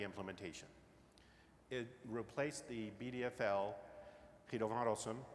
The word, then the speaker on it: Guido van Rossum: It replaced the BDFL, Guido van Rossum, and yes, that is how you pronounce his name, when he retired in 2019.